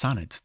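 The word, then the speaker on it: sunned: Note that sand should be pronounced sunet to maintain the rhythm.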